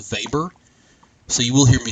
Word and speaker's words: Weber: I know his name is spelled Weber, but it is pronounced Weber, so you will hear me say that a good bit. So Weber emphasized let me try to say this word